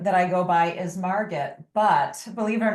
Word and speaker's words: Margit: Well, my actual name that I go by is Margit, but believe it or not, I get some great pronunciations of that. I get Margit, I get Margot, I get Marguerite, really beautiful pronunciation.